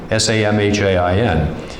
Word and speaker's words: Samhain: or spelled like Samhain, S-A-M-H-A-I-N. But, you know, in Celtic language, letters have different pronunciation values.